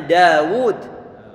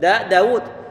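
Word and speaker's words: داود: ditulis dituliskan misalnya seperti kata Daud pengucapannya ada alifnya pengucapannya ada alifnya cuma penulisannya nggak disertai dengan Alif Iya kalau kita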